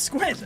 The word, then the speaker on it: Squint: It's Squint, not Squid. Whoa! Hold on. Oh, I'm Now, sorry. hold on. I can read. Spell it. Band. Spell it. SQUID SQUINT.